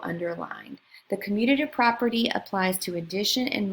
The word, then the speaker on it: commutative: highlighted here so the commutative property note the spelling and the pronunciation commutative not communicative or communicative but commutative it applies to both